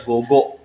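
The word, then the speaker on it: 午後: tapi nggak tembus ya minasang, ditambah kanji usiro, dibacanya gogo.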